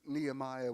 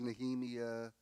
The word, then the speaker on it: Nehemiah: the Bible, and so he mispronounced all the Bible names, and we were taking Old Testament survey together, so when we would study, he would, like Nehemiah was Nehemiah, and so it was